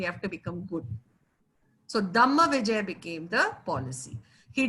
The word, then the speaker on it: Dhamma: they used to say, they used to pronounce dharma as Dhamma.